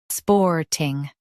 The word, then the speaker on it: Sporting: Sporting. Now read the syllables shown on the screen naturally. Sporting. Sporting. Emphasize spore and keep ting light.